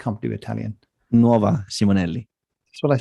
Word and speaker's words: Nuova Simonelli: yeah today we're going to talk about the novella siminelli did i say the right novella how do you say it max it's an italian it looks like company italian nova simonelli that's what i said isn't it not nearly